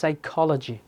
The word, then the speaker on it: psychology: All right, এই যে biology, then psychology, অনেকে বলে psychology, but it was psychology.